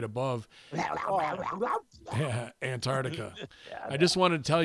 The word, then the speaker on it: Antarctica: Originally from Tasmania, the island right above Antarctica. I just wanted to tell you that you're pronouncing Antarctica wrong. The way to say it is Antarctica rather than Antarctica.